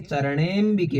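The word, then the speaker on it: चरणेऽम्बिके: सुरा सुर शिरो रत्न, सुरासुर शिरो रत्न निघृष्ट चरणेम्बिके, निघृष्ट चरणेम्बिके, ये चरणे है, उसके बाद ऐसी आकृति है तो अंबिके होता है, लेकिन उच्चारण जब हम करेंगे चरणेम्बिके बोलेंगे।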